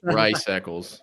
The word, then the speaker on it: Rice-Eccles: Rice-Eccles.